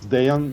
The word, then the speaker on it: Dejan: one for me thanks Chris my name is Deon and you you're pretty good I mean